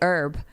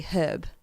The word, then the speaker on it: herb: but British people say Hub like a hard H but I always said herb I thought it was silent it it is at least here in America it is silent right yeah right okay